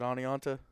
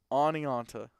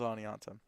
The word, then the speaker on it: Oneonta: build out of Oneonta is it Oneonta I was told I was saying it wrong oniononta okay maybe are you sure it's not Oneonta Oneonta okay all right we'll go with Oneonta let me queue up